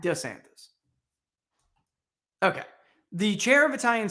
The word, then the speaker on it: DeSantis: prefers what's your name the dueling pronunciations have tripped up others when DeSantis was sworn in for a second term as Governor in January Florida chief justice pronounced his name d santis why because the Florida chief justice has been hearing him say d santis for 10 years and then the governor repeated back DeSantis okay the chair of